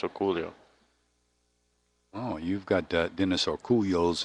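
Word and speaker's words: Orcullo: I've heard him called Orculo, but Orculio.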